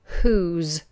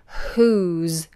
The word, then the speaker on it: who's: is like as ed whose just make sure that the W is silent but we make it breathy who's who's all right we're